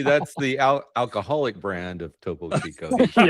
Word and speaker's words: Topo Chico: The Topo Tipicos. Okay. Yeah, I say it wrong all the time. Topo Chico, yeah.